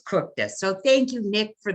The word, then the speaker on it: Kukta: And I made sure that I knew how to pronounce his name because it's spelled Kukta, but it's Kukta.